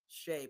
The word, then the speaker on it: Shai: I see his name it's pronounced Shay but it's spelled Shai and those 80s babies